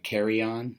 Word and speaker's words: KARAJAN: sport diver uh but it is branded uh carryon that is apparently how it's supposed to be pronounced too so I will leave a link